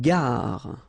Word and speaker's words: gare: Une gare. Okay, remember when you get these G and A together, the sound is g, ga, ga. Une gare. Final not pronounced.